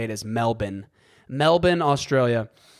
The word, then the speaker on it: Melbourne: Really quickly, Americans call Melbourne, Australia, Melbourne, Australia. We were immediately corrected on the proper way to say Melbourne, Australia. It's actually Melbourne, Australia.